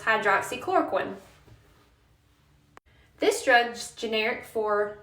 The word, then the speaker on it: hydroxychloroquine: Then you have this drug, which is pronounced hydroxychloroquine.